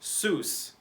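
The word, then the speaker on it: סוס: letters one two three and this word is pronounced seuss this is the word that means horse horse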